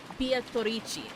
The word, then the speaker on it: Beatrice: I just learned that Beatrice is actually Italian, and that's why it's transcribed in katakana and pronounced that way, because in Italian it's pronounced Beatrice.